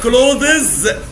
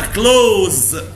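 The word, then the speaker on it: clothes: بص بقى الكلمة دي، كلمة ملابس THE دي مش هنطقها خالص والاس هنطقها زي، يبقى اسمها كلوز. الملابس اسمها ايه؟ كلوز. لو حد قال لك كلوزز قول له لا اسمها كلوز.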